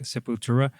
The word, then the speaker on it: Sepultura: Sepultura is actually how we call that. Uh, People say like Sepultura.